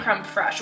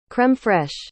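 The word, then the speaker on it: crème fraîche: that could not find crumb fresh which i know i'm saying it wrong someone please down below tell me how to say it properly creme fraiche anyway so could not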